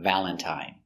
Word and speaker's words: Valentine: Valentine uses the original I sound. I, long I, Valentine.